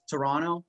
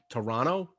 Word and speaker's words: Toronto: Can I just tell you it's Toronto with no second T? Toronto?